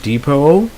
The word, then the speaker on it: depot: Next we have where the T is not pronounced, like depot. It's a silent T.